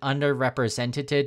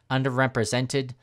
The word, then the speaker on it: underrepresented: first during the video I said under representative did a few times I kind of mispronounced that underrepresented is the correct pronunciation so if you heard